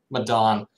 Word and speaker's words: Madon: Lieutenant Madden, if you can send, is it Madden or Madon? I pronounced it, I think, 4 different ways. Madon.